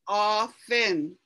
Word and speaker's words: often: this word oh this you don't pronounce that t it's like off and in often almost you don't say that e it's just off fin it's really not easy